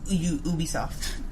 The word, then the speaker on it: Ubisoft: in this game i feel like ubisoft's ubisoft ubisoft yes that's how it's pronounced ubisoft um is just making games under